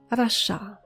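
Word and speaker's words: רשע: Rasha.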